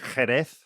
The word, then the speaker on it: Jerez: In Spain, they would say Jerez. Jerez. So the T is like a th.